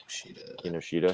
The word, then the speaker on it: Kinoshita: Is that how you say it? Yep. Kinoshita. Kinoshita.